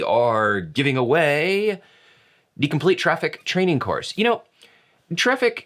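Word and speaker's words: Traefik: it traffic trifec trific depending on what origin your language comes from you might pronounce the ae differently and they said it's like the e in aesthetics so it's not quite an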